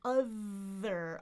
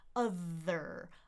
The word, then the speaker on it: other: I think other other and I'm I'm what I'm calling here is a natural schwah because it's not because we're reducing it, right? That's just the way the word is. It has the schwa in there.